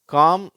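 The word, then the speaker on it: calm: சேரும்போது என்ன உச்சரிப்புன்னு பார்க்கலாம் வார்த்தைகளை பாருங்க காம் பாம் எல் ஃபிலிம் இதுல காம் பாம் அந்த வார்த்தைகள்ல எல் சைலெண்ட் ஆயிடுது ஆனால் எல் ஃபிலிம் அதுல எல்லாம் உச்சரிக்கப்படுகிறது அடுத்து கீழ பாருங்க இதுல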